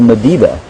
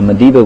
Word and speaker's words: Madiba: know how you spell Madiba. In a lot of our indigenous languages, except Shangaan actually, which tends to be a lot more difficult to spell, you spell it as you hear it. So Madiba would be M-A-D-I-B-A, M-A-D-I-B-A.